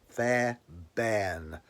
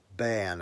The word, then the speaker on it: Fairbairn: I had to pronounce it properly because it was because it's got R at the end of it. So Philip Fairbairn. Bairn, I think it is, not Barn, Bairn. Well done to you.